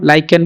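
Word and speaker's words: lichen: बुझी के नबो कोन लाइकेन बा लिचेन जहां भी तुम प्रोनाउंस करि परिबो तुम हिसाब रे ठीक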